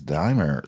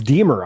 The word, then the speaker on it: Demer: Nicholas Dimemer. Sorry, I butchered his name like a million times even at the event. I'm so sorry. Nicholas Demer. Oh, it's Demer. I said Dimemer, too.